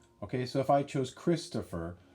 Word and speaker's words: Christopher: Christopher. Christopher. That's my name. Christopher. It looks like Topher, but most people say tougher.